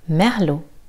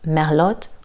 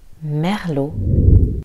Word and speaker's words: Merlot: Merlot. Le T est silencieux. On ne dira pas Merlot ou Merlot. Merlot.